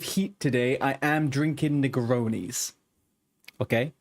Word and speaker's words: Negroni: Uh, it's called, it's pronounced Negroni, and it is one of the most delightful cocktails you can have in the world.